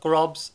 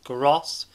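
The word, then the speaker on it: Groß: It's not Grobs, it's Gross. I managed to work out his name. That B is not a B.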